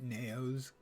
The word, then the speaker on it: Naos: I know I'm going to try to remember to pronounce it Naos, because it rhymes with mayos.